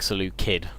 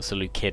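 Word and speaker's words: Seleucid: saying and actually it's reminded me that um C's are are hard C's. So, they're K's or they should be pronounced K's sort of the C sound. Um so, it's I've been saying um and it's probably more like Salucid, the Saloo Kid Empire. Um, so yes, Salute Kid Empire.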